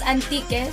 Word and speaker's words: Antique: Hantique, which was then read as Antique, silent H.